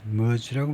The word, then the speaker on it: Merz: Merz라고 발음하죠.